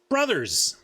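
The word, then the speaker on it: Bros.: box says b-r-o-s period because b-r-o-s period is pronounced brothers that's how you pronounce that bros period well you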